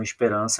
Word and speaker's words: esperança: o próximo aqui ó veja que quando eu falo Esperança eu falo mais alto a sílaba R Olha lá esperan então eu circulo a sílaba tônica e vejo que a sílaba tônica não é a última é a penúltima quando a sílaba tônica